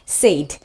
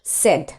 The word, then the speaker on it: said: সো প্রথমত বলে নেই, এইটাকে কিন্তু আমরা অনেকেই মিসপ্রোনাউন্স করে থাকি। আমরা কিন্তু এই ওয়ার্ডটাকে এইভাবে বলে থাকি সেইড, হি সেইড, শি সেড, তারা বলেছিল, সেইড। কিন্তু এর প্রোনাউন্সিয়েশন কিন্তু আসলে সেইড না, আমরা এটাকে এভাবে বলবো সেড, সেড, simply সেড, SAID, সেড।